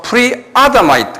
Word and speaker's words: Pre-Adamite: 그래서 Doctrine of Pre-Adamite, 액센트가 액센트가 아에 있어요. 그래서 Doctrine of Pre-Adamite 그래요.